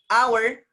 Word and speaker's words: hour: No, we call it hour, hour, hour, hour, hour. The sound is what? A. Hour, hour, hour. The sound is what? A. H is silent there.